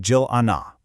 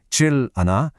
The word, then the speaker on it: 질 않아: That L sound at the end of 칠, the R consonant, it actually links over to the next vowel. So instead of saying 질 않아, it all flows together smoothly into 질 않아.